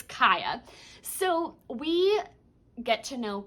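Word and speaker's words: Kya: And I should add a disclaimer just in case I pronounce it incorrectly. When I read the book, I thought her name was Kia. So if I say Kia, please forgive me. It's Kaya.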